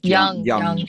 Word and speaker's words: Jung: Yeah, Young.